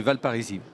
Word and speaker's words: Val Parisis: vice-président de l'agglomération de valparisis je prononce bien c'était exactement ça on confond des fois avec la ville mais oui c'est valparisis donc j'ai bien raison de pas prononcer le S d'abord un petit mot